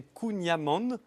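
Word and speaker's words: Kouign-amann: J'ai lu que c'était Kunyaman. Amand avec un N à la Kunyaman. fin. Ah ouais. Voilà, donc pardon si je me suis trompé auprès de nos amis bretons. toujours J'ai du juste voulu Kunyaman.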